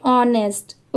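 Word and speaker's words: honest: यहां पर देखिए एच लेटर साइलेंट है। सिर्फ ओ एन ई एस टी इसकी ही साउंड आएगी। इसलिए इसे हम क्या प्रोनाउंस करेंगे? ऑनेस्ट। ओके? यहां पर एच साइलेंट है।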